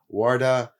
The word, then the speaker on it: Uarda: Spelling it out phonetically works. Uh, so Ward, thanks thanks for thanks for joining.